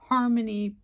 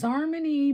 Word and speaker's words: Xarmony: sniffing and that is harmony perfumes so this is harmony now it looks like it's zarmony but it is pronounced Harmony perfumes this is the